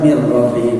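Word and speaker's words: مِنْ رَبِّهِمْ: Jadi pasti orang ya pasti yang berakal mereka itulah artinya ala atas hudan petunjuk min rabbihim dibacanya mirbihim min dari rabbihim tuhan mereka rab mereka.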